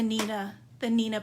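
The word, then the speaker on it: Neenah: You can cut it down if you want smaller pieces to store, but I just really love the Nina paper. And it's spelled Neeanah if you're looking for it online.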